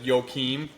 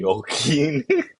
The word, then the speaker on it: Joaquin: yeah, the Joachim. Yeah, you can say Joaquin. Joachim. My bad. Yeah. I'm bad with pronunciation.